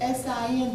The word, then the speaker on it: Sin: my Bible says the desert of S-I-N, but do you pronounce The it the way... desert of sin. Yeah, see, and that's just a happy little English coincidence.